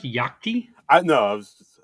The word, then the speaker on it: Yachty: It's I'm I'm hip enough to know it's called It's Yachty.